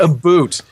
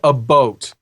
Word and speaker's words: about: It's not a boot. If you want to say about the proper Canadian way, think Forrest Gump. Okay. And think that you're seeing a boat. Lieutenant Dan, there's a boat. A boat. That is the Canadian way. That's the proper pronunciation of about.